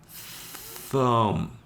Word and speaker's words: thumb: The B is mostly silent.